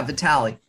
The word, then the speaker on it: Vitale: Am I pronouncing your last name? Yeah, Vitale.